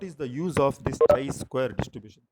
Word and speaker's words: chi-square: last concept in this Chi square distribution so tray square distribution means CH I so a square distribution means it is given as CH I either pronounciation chi-square okay a square distribution so